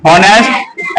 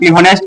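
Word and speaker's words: honest: का क्या होता है होनेस्ट एच ओ एन इ एस ऑनेस्ट का इसको पढ़ने पे उच्चारण क्या होता है एच गायब हो जाता है ऑनेस्ट आता है तो यहां क्या लगाएंगे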